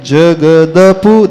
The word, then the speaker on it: जगद: पूर्व पढ़ लेते हैं वहां पर द हलंत नहीं है द पूरा है तो उसको कैसा पढ़ेंगे विदत जगद द का उच्चारण पूरा आना चाहिए विदत जगद पूर्व शशांक